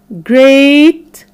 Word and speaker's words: great: has three different sounds the third the sound is when we have the e a letter pattern when we have the e a letter pattern making the sound of the long vowel sound a a like in break great steak okay so let's answer